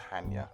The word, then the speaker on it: Chania: And this is pronounced Hania, not Chania.